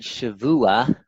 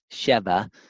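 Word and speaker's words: שבוע: you shall count seven here's the word Shavua or depending on how you want to put the bowels in there Sheva and there's eminent and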